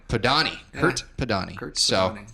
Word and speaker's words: Podany: that's what God's yeah the last name is pronounced PO Donnie PO Donnie hurt the Donnie hurts so thanks what is